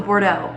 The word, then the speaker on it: Bordeaux: How do I pronounce Bordeaux? Oh, it's a Bordeaux.